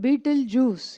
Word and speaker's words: Betelgeuse: It's called Betelgeuse. It's not how you think it is spelled, okay?